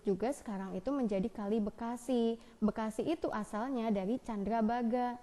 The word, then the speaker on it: Bekasi: Nah, Bakasie itu kan pengucapan pelafalan orang Belanda. Begitu kena sama orang yang di sekitar Lemah Abang itu misalkan ya, itu kan kalau Bekasi itu kan Sunda pinggiran ibaratnya gitu ya. Bakasi akhirnya jadi Bekasi gitu.